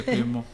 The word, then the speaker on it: Cleoma: So, is that how you say it? Yeah, Cleoma. Cleoma. French.